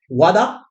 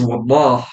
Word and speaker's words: Wallah: And first, I'm going to introduce my brother from another mother, Wada. Yeah, thank you, Roland. Really glad to be here. So my name is Wallah, and I forgive you for pronouncing it Wada, right?